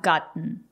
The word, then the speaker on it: gotten: And present perfect, have gotten. The letter T is a stop T. Gotten. I have gotten a lot of emails today.